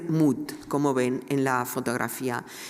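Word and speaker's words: Mutt: y eh el estaba firmada como r mood, como ven en la fotografía que se pronuncia mat en inglés, eh y con la fecha 1917.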